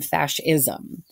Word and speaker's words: fascism: next to it but it's really just pronounced like fash like fashion and then fascism and so the word